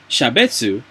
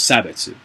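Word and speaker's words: 差別: If I say racist or shabetsu, I think it's sabetsu. I think, correct way to say it is sabetsu.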